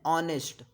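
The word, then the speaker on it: honest: Same यहाँ भी आप हॉनेस्ट नहीं बोल रहे हैं, आप इसको बोलते हैं ऑनेस्ट, ऑनेस्ट, ऑनेस्ट मैन, तो प्रोनाउंसिएशन वॉवेल साउंड से, इसलिए यहाँ क्या लगेगा, एन लगेगा, ए नहीं लगेगा।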